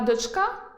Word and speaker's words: дочка: Наприклад, можна добирати рими: Донька вийшла до дячка, а дочка – до козачка.